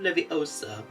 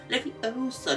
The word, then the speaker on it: Leviosa: You definitely know the correct pronunciations of Wingardium Leviosa. Leviosa, not Leviosa.